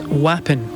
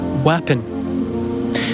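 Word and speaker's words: wappin: word today to say gigantic in Scots it's wapon spelled w a p p i n wapon that's gigantic in the Scots language and in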